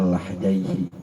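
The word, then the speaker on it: لحيين: dagu nanti dalam istilah fikih Bacanya lahyaii lahyaii adalah tulangnya kalau dengan patah l lah itu namanya tulangnya tapi kalau lihyah jenggotnya itu bisa dibuka nanti di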